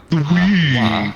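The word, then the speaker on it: は: Wa, which always sounds like wa. but you'll see this Watashi wa. symbol a lot. You'll What see ha, but it's pronounced like wa.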